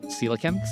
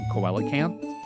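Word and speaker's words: coelacanth: one of the reasons I learned how to pronounce silicans, which is the fish it's based off of. I used to call them koalacans.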